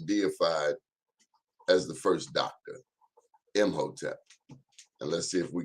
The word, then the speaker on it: Imhotep: Imhotep. I am Hotep.